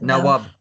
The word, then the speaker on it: Nawab: Nawab.